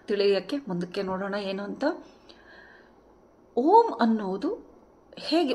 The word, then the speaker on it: ಓಂ: ಇದು ಯಾವುದೇ ವರ್ಣಮಾಲೆಯಲ್ಲಿ ಇಲ್ವಲ್ಲ ಇದು ಆಕ್ಚುಲಿ ಮೂರು ಶಬ್ದಗಳ ಸಂಧಿಯಾಗಿದ್ದು ಅ ಊ ಮ ಸೋ ಈ ಅ ಉ